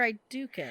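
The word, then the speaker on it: Aeducan: The Braska, Oh, I think they're Idukins. Harrowmont, No. Selak, No. Idukin? Idukin. It's Idukin, and yes, it's the Idukins. That's how you spell I do. It's pronounced Idukin!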